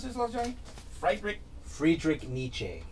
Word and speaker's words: Friedrich Nietzsche: is appropriate this is from how do you pronounce his love johnny frederick friedrich nietzsche friedrich nietzsche without music life would be a mistake that